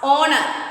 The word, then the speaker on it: honor: There is, see, H is silent there. So you should pronounce honor.